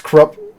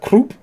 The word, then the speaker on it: Krupp: It's Krupp. It's not Croup.